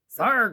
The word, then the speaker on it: Sarg: Sarg rhymes with arg.